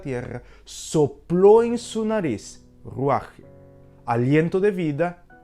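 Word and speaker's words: רוח: la palabra espíritu aquí en hebreo se traduce Como ruaje así es como se traduce r u aj Así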